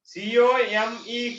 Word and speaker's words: come: The reason is it is silent. Come when we say e is silent there.